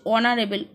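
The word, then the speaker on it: honourable: আমাদের এ বসবে তারপরে বলেছে ব্রুটুশ is dash অনারেবল ম্যান এইচ দিয়ে শুরু বাট উচ্চারণ হচ্ছে অনারেবল ও বায়েলের উচ্চারণ হচ্ছে তো সেক্ষেত্রে কি বসবে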